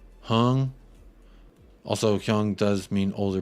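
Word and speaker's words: Heung: I know you like to mispronounce names on purpose, but FYI, Hyung is pronounced like the Master P song. Make him say, not Hyung. Hung.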